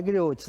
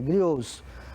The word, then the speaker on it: griô: pronúncia é essa ó pronuncia aí comigo grios não é griot é grios são os contadores de